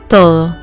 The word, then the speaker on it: todo: which means everything or all becomes ta, Todo, todo, todo, todo.